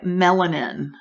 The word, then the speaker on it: Mellenin: But what I'm getting is the name I got sounds like melanin, MELLENIN.